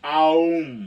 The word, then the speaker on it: Om: You're supposed to go like Om from your belly, and it's supposed to be Aum, okay?